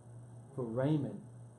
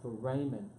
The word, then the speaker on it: foramen: that hard to pronounce for Raymond almost like ramen but for Raymond it's fo then Raymond